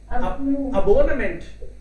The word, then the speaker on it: Abonnement: abonnement. Abonnement. Abonnement. Yeah. So Kultur is one word and abonnement. Abonnement. Yeah. So French में कैसे पढ़ेंगे इसको? मेंट को तो शायद गायब भी कर देंगे.